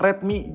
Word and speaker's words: Redmi: penulisan dengan huruf kapital Semua menjadi Redmi dibacanya sama-sam Redmi cuman lebih tegas aja gitu huruf besar semua dilansir dari Xiaomi time